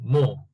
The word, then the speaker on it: more: ¿Se pronuncia more o es sin la R? ¿Qué es eso siempre? No sé. Como estamos viendo pronunciación británica, debe ser sin la R y con una O profunda, así como O, así como more. More.